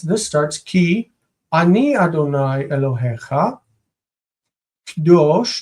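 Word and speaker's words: קדוש: Kdosh, notice the syllable in the beginning. It's normally Kadosh. Kadosh is reduced to Kdosh when it is in construct.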